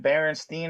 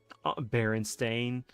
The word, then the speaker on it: Berenstain: Is it Berenstein or Berenstain? Berenstain. Like they listened to Stain, the band.